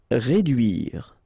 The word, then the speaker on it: réduire: Réduire. Okay, try to insist on this U here because it can be quite tricky.